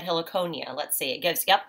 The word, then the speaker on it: Heliconia: helix so I said Heliconia let's see it goes yep I was right it gives the pronunciation right here a he Laconia which is a plant